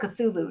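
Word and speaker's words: Cthulhu: manifests fears because Chu how do you say that cthulu not chulu cthulu I always want culu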